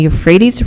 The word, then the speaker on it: Euphrates: river system created by the tigris and the euphrates rivers is considered one of the main cradles of human civilization is there other pronunciations there is no alternate pronunciation can you